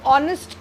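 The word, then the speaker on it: honest: मतलब हम ऑनेस्ट पढ़ते हैं तो ऑनेस्ट क्या पढ़ते हैं, वावल उसमें ओ होता है, एच साइलेंट होता है, तो लेकिन उसके आगे हम वो क्या लगाते हैं, एन लगाते हैं ना।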